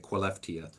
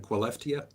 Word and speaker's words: Skellefteå: It's spelled Skellefteå, but they're pronouncing it Skellefteå, I think.